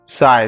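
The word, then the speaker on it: psi: साय सा का स्पेलिंग आप लोग बोलते हैं ना दोस्तों? स पी एस आई ठीक है तो ऐसा कुछ इसका स्पेलिंग होता है पीएसआई दैट इज़ कॉल्ड स बोलते हैं हम इसे ठीक है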